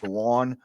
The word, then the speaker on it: Juwan: I think it's spelled Juan, but he pronounces it Juwan.